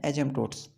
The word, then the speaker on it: asymptotes: यहाँ पे आप लोग देख रहे हैं कर्वेचर एंड एजम्पटोट्स। यहाँ पे पी साइलेंट है, यहाँ पे एजम्पटोट्स नहीं पढ़ना है, यहाँ पे पी साइलेंट रहता है।